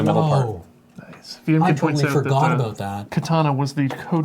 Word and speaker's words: Katana: SE SEO I think that's the only interesting Katana board there it is copyright Sega 1999 uh it's pronounced Katana please do not dishonor neon just